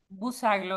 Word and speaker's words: Bouzaglo: ¿Cómo pronuncio tu apellido? Busaglo, exactamente como lo dijiste.